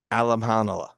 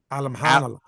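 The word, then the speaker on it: Alimkhanuly: And you don't pronounce the K in the middle.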